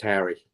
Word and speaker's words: Hari: your name right there yes it's h-a-r-i and it's just pronounced Harry Harry I'm tight I'm